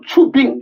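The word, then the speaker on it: 出兵: 펑더화이가 다시 큰 소리로 출병, 중국 발음으로 추빙 그런 거죠.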